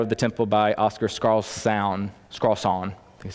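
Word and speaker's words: Skarsaune: as the shadow of the temple by Oscar scarl scon that's how you say his name so here's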